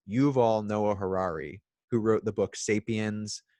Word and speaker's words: Yuval Noah Harari: And that's something that the author, I always get this name wrong, but I believe it's Yuval Noah Harari, who wrote the book Sapiens, Homo Deus, 21 Lessons for the 21st Century.